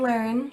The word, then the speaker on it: Learn: So my name is Learn, like I said. My last name is pronounced Learn as in learning, and my pronouns are she, her.